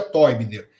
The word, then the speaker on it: Teubner: para o português chamado gunter toyseller que se escreve teubner esse teubner pronuncia Toy Miller mas se escreve teubner